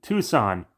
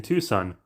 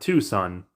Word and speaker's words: Tucson: discovered by someone in Tucson despite this and how you say it in English is not two Sun like two suns the world's largest rose